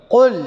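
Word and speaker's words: قُل: ஆயத்தை ஸ்டார்ட் பண்ண போறேன் குல் எப்படி குல் குல் குல் ரப்பிஸ் பாருங்க நான் அந்த காஃபை எப்படி உச்சரிச்சேன் எப்படி உச்சரிச்சேன் வல்லினமா உச்சரிச்சேனா மெல்லினமா உச்சரிச்சேனா வல்லினமா பாருங்க ஹுரூபுல் இஸ்திவுடைய எழுத்து வல்லினமான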